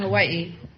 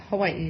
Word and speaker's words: Hawaii: or thousand I'm from Hawaii Hawaii is that the correct pronunciation I thought it was Hawai no that's not right uh Hawaii is correct oh you couldn't say